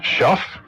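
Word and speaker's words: Shough: His name is spelled S H O U G H. Shuff.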